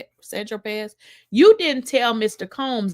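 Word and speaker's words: Saint-Tropez: So Agnifilo says, when you bought the 8-ball of Coke on St. Tropez, pronounced Sandropez, you didn't tell Mr.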